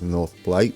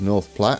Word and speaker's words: North Platte: cities and we have North Platt the correct pronunciation I don't know why I went with North plate but there we go it is North Platte and it was a